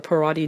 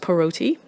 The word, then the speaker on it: Parati: of my foreign surname, the Parati name, or locally it's pronounced Paroti or Parodi.